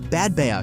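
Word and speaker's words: Badbea: episodes in British history, Bad Baya clings to steep slopes above sea cliffs on the east coast of Caith in Scotland, 5 mi north of Helmsdale, and its name is pronounced Bad Bay.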